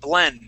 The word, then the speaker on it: blend: um C BL okay that word is going to be actually pronounced blend with an a sound BL blend blend mix mix very good good